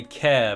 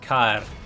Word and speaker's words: Cair: at Cair Andros and you'll want to say care, but it is, strictly speaking, pronounced Cair, not care. Um so, it is Cair Andros, even if it does sound a bit awkward.